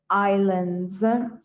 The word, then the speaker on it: islands: island of elba again a good pronunciation of islands although it is spelt with an s is islands and there's also an